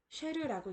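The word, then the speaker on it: शेर: SH 찍은 셔에다가 에라는 모음이 붙어서 쉐라고 읽을 수가 있고요.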